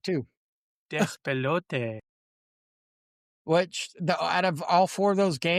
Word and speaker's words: Despelote: Despelote, and Dispatch. I was gonna say, go ahead, say that. Say that. I did, and I said it right too. Despelote.